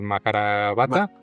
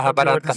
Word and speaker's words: Mahabharata: los instruyeron y según Rudd en el Maharabata, No, es que tú eres bueno para sí. las pronunciaciones. Mahabharata. Échale, Mahabharata.